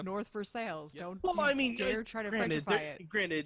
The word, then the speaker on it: North Versailles: oh yeah oh yeah it's spelled it's spelled like versailles but it's north for sales i mean try to